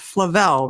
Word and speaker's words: Flavel: and i'm so glad i know how to pronounce it now the haunting of flavelle right the haunting of flavelle house an actual